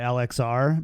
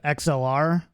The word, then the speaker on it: XLR: kind of getting tilted every time you say lxr because like that's the common mispronunciation of xlr the the connection yeah